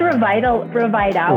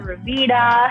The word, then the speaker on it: Rviita: Yeah, so it's pronounced Rviita, which is short for Revitalize, but a lot of people also call it Rviita, Rviita, and you know what?